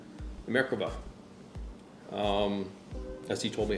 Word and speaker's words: Merkava: Merkava.